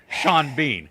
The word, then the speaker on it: Sean Bean: But the way that the Irish actor spells his name, it should either be pronounced Sean Bon or Sean Bean. You cannot have one letter changed on each word and it be Sean Bean. That makes no sense.